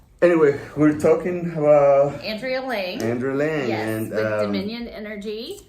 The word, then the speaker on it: Lange: Lange or Lange? How do you like to pronounce it? Lange, L-A-N-G-E.